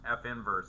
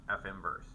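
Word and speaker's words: f⁻¹: say that right because I keep saying it's pronounced F inverse it's not really F to the1 power it's pronounced F inverse so you could just say um you could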